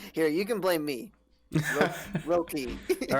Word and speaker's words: Röki: Rokai? I don't know how to pronounce that because it's got the little double dots over the O. Yeah. Rokai? Röki?